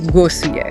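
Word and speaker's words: głosuję: That phrase is głosujcie, and it's pronounced głosuje.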